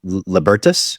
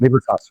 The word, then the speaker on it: Libertas: You had this your fund called uh Libertus. Is that how you pronounce it? Libertas. Freedom. Libertas. Yeah, it's freedom in Latin.